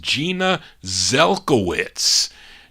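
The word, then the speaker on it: Genya Zelkowitz: group now goldie her real name is gina or jenya yeah gina it's pronounced gina zelkowitz gina zelkowitz what a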